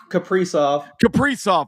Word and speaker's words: Kaprizov: I always pronounce his name wrong. Case Casper, Kaprizov. I put the S before the P.